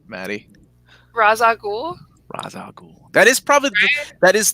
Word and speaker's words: Ra's al Ghul: starts off and more importantly how do you pronounce the villains name Maddy Ra's al Ghul that is probably that is the proper pronunciation